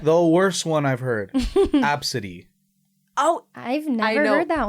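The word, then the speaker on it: Abcde: a little bit the worst one I've heard absidy oh I've never heard that one I know you know how to spell it I do spell it a b CDE e I'm out what absidy her name's absidy you spell you actually met an Abid I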